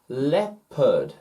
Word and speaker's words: leopard: head head head head leopard leopard leopard as it runs across the sahara well africa leopard leopard le pud this e o one syllable one vowel sound one short vowel sound e le pad head